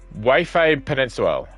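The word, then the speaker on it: Waifei Peninsula: Way Peninsula.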